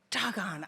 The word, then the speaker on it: Dogon: Now, some people say, is it Dagon? Is it Dogon? What is it? Just think of it this way. You could say, Dogon, I should have been reading his book. That's how you say it.